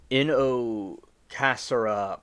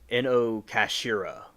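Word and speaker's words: Inokashira: The Ino Casera Park curse in Inocasira cash. Oh, I'm pronouncing this wrong. Inocashira Parkers.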